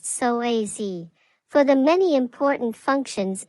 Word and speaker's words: psoas: It's often called the mighty psoas, pronounced psoas, for the many important functions it plays in the movement of your body.